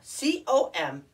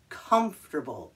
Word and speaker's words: comfortable: my friends excellent now c-o-m-f-o-r-t-a-b-l-e we took comfort and we added an a-b-l-e now it's comfortable comfortable what but it looks like for table that's what it looks like but it's pronounced comfortable comfortable yes this is